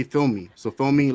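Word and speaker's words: filme: them is um film film me. They say film me. So, film me like like for a movie. So, it's it's like the same thing as film, but they say film me.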